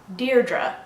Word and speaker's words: Deirdre: so Verona Deirdre just think of the word dear and add drew Deirdre oran some people pronounce